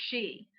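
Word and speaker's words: sidhe: people good people and the she which is spelt s-i-d-h-e what do fairies look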